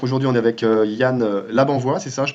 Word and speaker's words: Labanvoye: Donc aujourd'hui on est avec Yann Labanvois, c'est ça, je prononce bien?